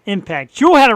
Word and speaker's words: EMPKT: Impact, spelled EMPKT, pronounced Impact. Jewel had it right all along. She actually messaged me and said, just so you know, it's pronounced like Impact.